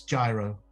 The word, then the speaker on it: gyro: It's gyro, which should That be would be pronounced hero, delicious. but they call it gyro.